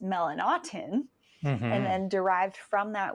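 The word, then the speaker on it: Melanotan: skin that was researched back in 1998 was melanatan which is actually more properly pronounced melanotin and then derived from that was pt141 which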